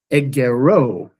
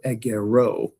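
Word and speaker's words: ἐγερῶ: I raise, then becomes egero. Okay, so the epsilon iota, you see the iota drops here in the future, and you see that the circumflex is again over that last syllable, so egero.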